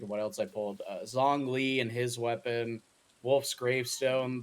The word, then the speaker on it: Zhongli: Bros called it Zhong Li. It's Yeah, Zhong Li, right? or Dong Li, as I call it.